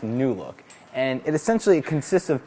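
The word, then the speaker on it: Loupedeck: the name of it it's spelled a little bit weird but it's pronounced new look and it essentially consists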